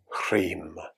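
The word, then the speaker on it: ह्रीं: Om and Hrim. And if you spell it, it's H-R-E-E-M.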